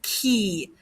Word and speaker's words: qui: You've heard me say who before, but who is qui, like a key that you put into a door, qui.